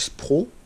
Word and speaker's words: Spro: Et donc, du coup, ces têtes plombées là de chez Spro, elles sont super. Elles sont vraiment au top. La marque, c'est Spro. S-Pro. Comme ça s'écrit.